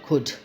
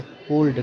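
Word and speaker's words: could: का यूज नहीं होगा सीओ य एलटी कुड क्या पढ़ेंगे कुड पढ़ेंगे कल्ड कल्ड नहीं पढ़ेंगे अगर कुड बुक पढ़ते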